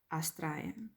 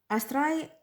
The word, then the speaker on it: Astraea: The Drop Dead Gorgeous Astraea by our beloved Rachel Anderson. Astraea, or I think it is pronounced Astraea, meaning from the stars.